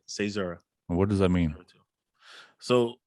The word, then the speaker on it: caesura: it properly man uh cesaro everybody everybody gets it wrong so it's all right say zara what does that mean